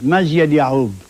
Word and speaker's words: Mazyad Yaqub: Mazyad Yaqub. But we put K so Westerners can at least pronounce it, yeah.